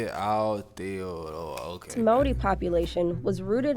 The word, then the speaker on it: Aotearoa: The indigenous That's how you say it, Aotearoa.